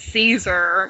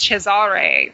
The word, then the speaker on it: Cesare: That actually, you know, it's funny because this whole time I've been, probably because I'm from Arkansas, I've been pronouncing it Caesar because, you know, it's not my fault.